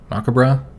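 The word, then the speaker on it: macabre: kind of maob dance I think the British pronounce that macabra and this is all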